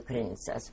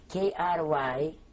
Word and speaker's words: Krynica: Krynica, K-R-Y-N-I-C-A. You would pronounce it Krynica, but the C is pronounced in Polish as Krynica.